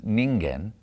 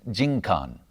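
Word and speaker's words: 人間: society community in japanese rather than ningen pronounce it as jin khan in the meiji period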